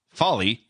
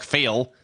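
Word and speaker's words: Fale: the underboss bad luck folly my favorite my favorite wrestler right now which looks like it should be pronounced bad luck fail that's the only reason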